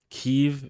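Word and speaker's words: Kyiv: Kiev is how they say it in Ukraine.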